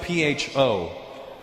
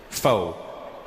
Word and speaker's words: pho: It's spelled P-H-O. Pho. But it's not the way it's pronounced. And in America, people are annoying because I'll be like, yeah, let's go get some pho. And they'll be like, Russell, it's actually pronounced pho.